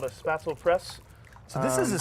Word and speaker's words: Spätzle: Pronounce this for me again. Spätzle.